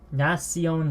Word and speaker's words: nación: left nah she on Nellie dad Nash Iona nación Nally dad it's a little faint alright so that's how I pronounced it just now as you heard me pronounce it nasty Owen nap nación Ally dud Nessie oh now see ya now